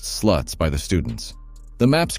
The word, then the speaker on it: SLT: education course called the Sexual Literacy Tutorial SLT, pronounced sluts by the students.